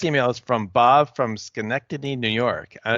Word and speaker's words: Schenectady: is from Bob from Schenectady New York uh did I say it right yeah Schenectady and you said it right it's Bob that's Bob